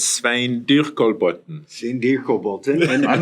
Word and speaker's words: Svein Dyrkolbotn: Can you pronounce it for the audience here in the correct Norwegian No way? problem. It's Svein Dyrkolbotn.